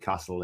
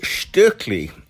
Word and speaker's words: Stöckli: It is Stöckli, because obviously it's a Swiss company.